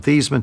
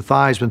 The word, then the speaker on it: Theismann: think by just simply changing the pronunciation of your last name from these men to Theisman to rhyme with eyes when we get you